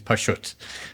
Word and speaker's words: Pashut: The correct pronunciation is Pashut.